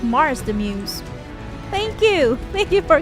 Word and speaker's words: Mars the Muse: Marks on YouTube says, "Nice to meet you guys, I'm doing well, but for a future reference, it's pronounced Mars the Muse."